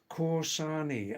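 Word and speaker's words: Kausani: This is Corsani. I'll spell it because K A U S A N I.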